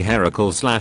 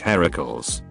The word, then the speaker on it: Heracles: finding out about this now but it's actually heracles heracles he was named as a tribute for hera